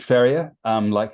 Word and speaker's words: Ferrier: George Ferrier? Is that how you say his name? Yeah, George Ferrier, like a horse farrier, Oh, so I'm yeah.